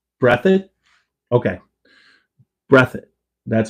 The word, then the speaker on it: Breathitt: It's pronounced Breathitt. Breathitt? Okay. Breathitt.